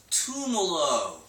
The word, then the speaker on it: Tumolo: Tumolo.